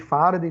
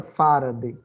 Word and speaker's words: farad: A gente vai ver, inclusive, lei de Faraday, talvez alguém já ouviu falar em Faraday. Mas a unidade de capacitância não é o nome dele com a pronúncia correta, Faraday. É Farad.